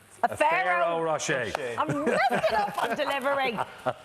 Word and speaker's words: Ferrero Rocher: A Ferrero Rocher.